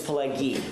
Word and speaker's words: Pileggi: It's Pileggi with a hard G.